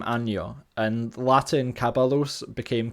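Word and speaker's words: año: right now is the palatalization of the Latin double n and L and for example ano which we kind of know when the phrase anno domini means Year in Spanish I became anyo and Latin kabbalos became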